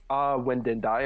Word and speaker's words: Windindi: Well, I have a Twitter, Windindi, of course, and that's how you say it, everybody, because nobody gets my name right, but that's okay.